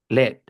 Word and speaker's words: lead: Ahí está le I a leader con i larga. Pero en la palabra plomo, esa palabra tiene otra pronunciación, porque ahí no es un verbo, es un sujeto plomo. El elemento químico plomo o el ahí suena e LED.